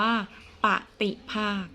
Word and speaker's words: ปฏิภาค: อย่าง ที่ 6 แล้ว เรา ออก เสียง ว่า ปฏิภาค สุด ท้าย และ สุด ท้าย แล้ว ปฏิภาค